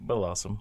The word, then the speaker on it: Bellossom: Bellossom? How do you say that? Bellossom? Yep, Bellossom.